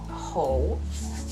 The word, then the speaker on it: 好: actually three meanings of this character pronounced whole the first one also